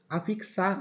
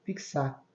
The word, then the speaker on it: fixar: Ok da mesma forma a fixar a fixar também tem um som de KS aixar fixar que sá tá vendo